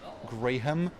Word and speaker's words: Graham: I know you hate it when people pronounce the H, but I will say Graham.